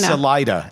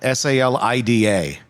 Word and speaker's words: Salida: Is it Is it Selena or is it Salena? Salida. S A L I D A.